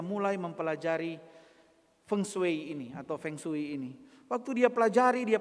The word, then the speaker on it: feng shui: Hai ahli atau Master fengshui orang nado bilang fengshui atau orang Hokkian bilang hongsui bacanya sebenarnya feng shui Feng itu artinya angin